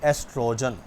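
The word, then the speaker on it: estrogen: पहला हार्मोन है एस्ट्रोजन। ठीक है? इसमें ओ साइलेंट कर देना आपने। पीछे वाला पढ़ लेना है। एस्ट्रोजन जी तो बेटे यह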